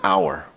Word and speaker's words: hour: While our starts with an H, it actually sounds like it starts with a vowel sound. The resulting sentences are, I'll be there in an hour.